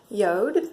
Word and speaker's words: Jord: got the name of the brand is it's pronounced Yoda but that's how it's spelled and they're at